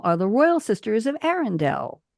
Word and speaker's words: Arendelle: the royal sisters of Arendelle. It rhymes. Menzel, Bell, and Arendelle.